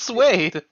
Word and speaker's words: suede: It's pronounced suede.